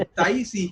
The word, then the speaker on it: Taixi: याद टैक्सी करके नहीं, TAIXI, ताइशी, नहीं ताइशी।